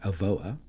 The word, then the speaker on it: Avoa: So today we have Tim Crawford, CIO Advisor at Avoa.